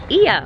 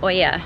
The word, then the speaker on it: Oia: And now we are off to Oya. I've been saying Oya because it's spelled O-I-A, but the Greek way is to say, I think, is Oya.